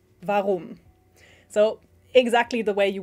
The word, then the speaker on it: warum: And then the letter W in German is V, as in warum.